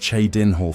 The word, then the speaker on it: Chadenhole: The coffins destination was Chadenhole, pronounced Chadinhole for clarity, though the town then was little more than a ring of wooden palisades hugging the banks of the Corbalo River.